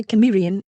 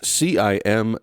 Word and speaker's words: Cimmerian: And so many English pronunciations would seem to be Cimmerian. However, it looks like the original wording was meant to be spoken with a hard C, or what we today call the K sound.